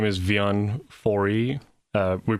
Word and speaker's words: Wian: with a W and we pronounce the W with a V sound oh okay so yeah it's w i a n vion vion yeah mm yes